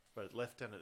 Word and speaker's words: lieutenant: blame the French yeah leftenant is the way it's pronounced Frank we just say lieutenant because everyone gets it